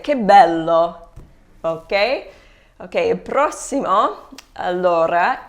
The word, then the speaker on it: che bello: So in this phrase here, che bello is pronounced like k because the C is followed by an H.